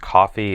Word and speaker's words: Ko-fi: It's I think it's pronounced coffee.